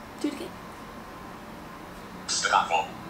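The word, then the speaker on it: Zdravo: Stravo. Do it again. Stravo.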